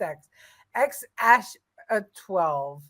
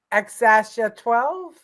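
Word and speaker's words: X Æ A-12: thought it was just x xsh 12 the x is pronounced like the letter X and the a is pronounced Ash xasha 12 okay thank you for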